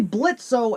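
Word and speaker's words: Blitzø: Well, it begins with Blitzo, or Blitz if we want to go with the O is silent, coming home from work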